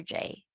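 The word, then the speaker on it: llamo: so maybe safe is you can just try to say it's soft J but it's not like ja okay it's a bit softer jaymo or you can also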